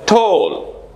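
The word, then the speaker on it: tall: এ double L ঠোল এটা আমরা যদি টি এ ডবল এল বলি টেল বলি অনেকে আমরা বলতে পারি সেটা কারণ টি এ আসছে টেল উচ্চারণ হতে পারে কিন্তু correct accent is Shaw long O sound ঠোল ঠোল ফোল ইত্যাদি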